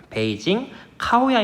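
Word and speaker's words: 北京烤鸭: 덕 이라고도 부르는 을 베이징 카오야 입니다 베이징 가 옷 야 라고 읽어요 읽기는 주옥 사람들은 이렇게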